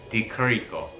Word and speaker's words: Di Chirico: I say it Alessio Di Chirico, but I've heard it the CH pronounced with a K sound, Di Chirico.